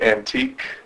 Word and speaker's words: AntiQ: and write dj name my name is uh dj antique it's uh pronounced like old furniture old style hard to